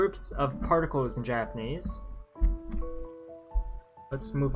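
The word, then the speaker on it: を: We have the o marker, pronounced o. Remember, the woes are o.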